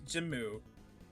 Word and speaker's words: GM: That is how it's pronounced, but it is It's an pronounced acronym. It stands Jimu. for Gundam Mass Production. Yes, Jimu.